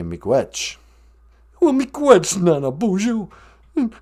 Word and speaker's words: miigwech: How do you say thank you in Ojibwe? Say miigwech.